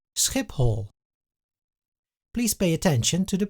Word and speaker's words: Schiphol: The Dutch say Schiphol. please pay attention to the pronunciation. Here the P is followed by a H, but it is not pronounced as an F.